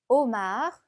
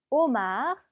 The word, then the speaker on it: homard: homard, homard. 자, 아슈는 무음이기 때문에 발음이 되지 않고 마지막 대는, 마지막 자음이기 때문에 발음이 되지 않죠.